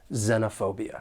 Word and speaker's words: xenophobia: mind is of course that X at the beginning of the noun it has a z sound xenophobia then we have the